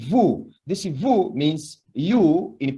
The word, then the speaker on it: vous: together, you can use vous. Can you say vous? Vous. But this one, nous and vous, as you can see, when we speak, the final consonant S is not pronounced. They are not pronounced.